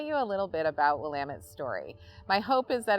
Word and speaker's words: Willamette: I'm the Director of Recruitment at Willamette University, and I'd like to take just a few minutes to tell you a little bit about Willamette's story.